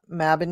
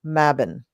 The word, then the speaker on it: Mabon: mabin here yes um so mabin has many pronunciations now the witch that I work for up at the Renaissance Fair is a I mean she's only like 10 or 12 years older than me but she seems like the quintessential Crone you know she has long white hair and beautiful you know like uh she's just it she is it and uh she pronounces it mabin but she is a